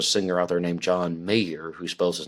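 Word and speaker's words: Mayer: and there's a singer out there named John Mayor who spells his name m i m a y e r and he pronounces it mayor and I remember very clearly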